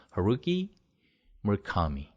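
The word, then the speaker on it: Haruki Murakami: 어떻게 해야 되냐? 강세를 찾아야 돼요. 두 개의 단어에 대해서. 그래서 어떻게 하기로 했냐? 하루키 무라카미 이렇게 발음을 합니다. 그래서 루에 강세 있고요. 하루키 무라카미 카에 있어요. 루랑 카에 있어요.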